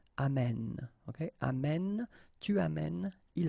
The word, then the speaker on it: amène: And then it will change, of course, the pronunciation, because you will have this sound open, amène.